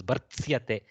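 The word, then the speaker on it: भर्त्स्यते: Bartsayate becomes bartsyate. The between these two letters disappears. Bartsyate, like that. Bha, r, this, you remember always, this has to be pronounced first.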